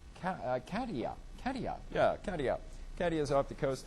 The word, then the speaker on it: Katia: It's Hurricane, how do we pronounce her name? Katia. Yeah, Katia.